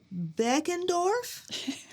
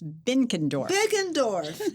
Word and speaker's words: Benkendorf: Hi, I'm here with Benkendorf. Am I saying it correctly? That's close, Elishea. It's Benkendorf. Benkendorf.